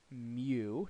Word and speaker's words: mu: that's the Greek symbol so um this is pronounced Mew depending on how you want to say it